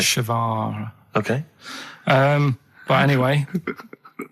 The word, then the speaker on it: Che Guevara: Che is like shake, and his surname is like guitar. Right. Shavara.